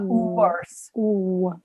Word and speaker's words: worse: you going to do to pronounce worse you're going to start with ooh and then say uh worse words yes see how